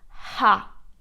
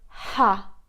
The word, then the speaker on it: Х: we pronounce it as Ha, Ukrainian sound. So let me just write you the transcription. In the alphabet H or Ha, Ha. For example, when you laugh, ha ha ha, ha ha ha.